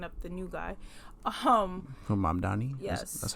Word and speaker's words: Mamdani: Because I felt like once again bringing up the new guy, from Mamdani.